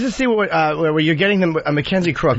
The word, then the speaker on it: Mackenzie Crook: Mackenzie Crook, right? That's how you say his name.